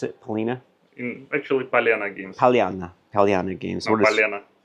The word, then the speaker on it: Palena: pronounce it Pina actually palana games palana palana games what palana pal palana no you're speak palana it's like palana it's like Val but p is like Anda oh okay so yeah